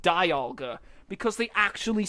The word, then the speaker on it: Dialga: but this movie was actually what taught me that it was pronounced Dialga and not Dialga, because they actually say its name.